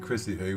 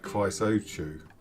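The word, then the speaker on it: Chrysochou: And the reason I pronounced it Chrissy Hoo was because I asked our Cypriot neighbours how it was pronounced, and that was what I was told. I used to call it something like Chrysochu.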